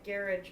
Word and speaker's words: garage: I happen to say garage, but some people would say garage.